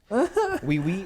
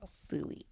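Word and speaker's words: Siu: Wee.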